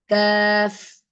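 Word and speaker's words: كاف: a small calf inside this letter is called CF so I'm going to write k a a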